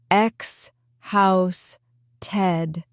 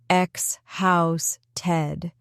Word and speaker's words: exhausted: X house Ted. The stress is in the middle. Xhouse Ted.